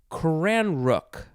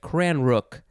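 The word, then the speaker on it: cranreuch: i don't know next it is kran rook i think that's how you say it cran rook c-r-a-n-r-e-u-c-h noun from 1682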